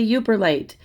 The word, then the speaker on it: Yooperlite: not only that the beautiful card and this uber light i hope i'm saying it right i'm gonna look it up hang on thank goodness i was saying it right it's a uber light it's a stone found along uh lake superior